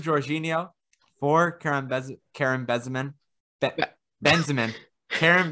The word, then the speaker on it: Benzema: or not third georginio four karen karen bessemen benzemann karen benzemann uh kareem benzema thank you isn't it great